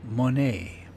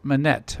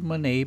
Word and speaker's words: Monet: be tempted to pronounce Manette but in French only words ending with the letter C are F or L are pronounced the rest of the words you don't pronounce the last letter it is